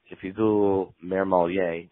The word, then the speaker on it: Mermmelier: And if you Google Mermmelier, and that's spelled Mermmelier, so a lot like sommelier, I come right up.